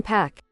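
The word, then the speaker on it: Anderson .Paak: Like Tupac. Like Pac. I've pronounced it pack ever since I learned that it was correct. Somebody says it's PAC.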